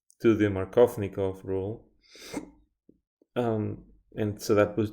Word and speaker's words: Markovnikov: Yeah, I don't know why I didn't think about that, because that name Markovnikov is too long. Markovnikov. That's four syllables.